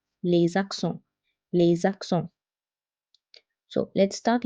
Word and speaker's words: les accents: When S is followed by another word starting with a vowel, it's pronounced as Z. Les accents.